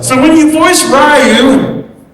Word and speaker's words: Ryu: And just to clarify, it's Ryu, not Ryu.